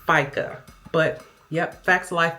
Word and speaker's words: FICA: Brenda said I have to pay a fas and the feds and the state. It's actually pronounced FICA, but yep, facts of life, my dear.